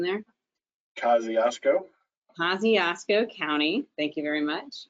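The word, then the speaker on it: Kosciusko: at, Jeff, can you remind me of the pronunciation there? Kosciuszko County, thank you very much.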